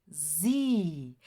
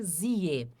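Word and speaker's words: sie: Então, a gente nunca vai dizer zie, sempre vai ser zi, ó, zi, que quer dizer, então ela.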